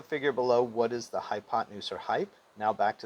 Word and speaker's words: hypotenuse: Now you're going to spell it hypo, 10, use, but you're going to pronounce it smoothly, hypotenuse.